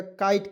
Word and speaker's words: kite: अब कहिएगा सर जी काइट कैसे हो गया, तो सर आप देखिए के से क लिख देंगे और ITE आता है, उसका उच्चारण आइट के रूप में हो जाता है, ठीक है।